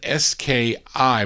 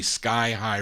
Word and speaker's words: Sky High: But here's a gal by the name of Marva Jones, and this is on, it's spelled S-K-I, but I don't think you pronounce it ski. I think it's really Sky High Records out of New York City.